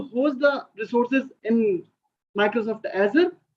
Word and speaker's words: Azure: The right pronunciation is Azure. This is not Azure and Azure.